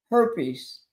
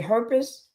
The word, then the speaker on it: herpes: Is it herpes? Her herpes. Herpes. That's how you say it.